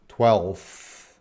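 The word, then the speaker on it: twelfth: words to pronounce, because we got an L, we got an F, we got a TH. And yeah, you have to say, where's the mic? 12th.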